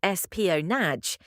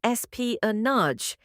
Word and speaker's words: espionage: Don't say es-pi-o-naje. The correct pronunciation is es-pi-o-naje. The ending is French, like massage.